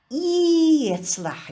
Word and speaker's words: ецлах: А читается ецлах. Дифтонг ие будет. Вместо вот этой вот буквы в чеченском языке она не читается, вообще не произносится буква а она произносится как дифтонг вот этот ецлах.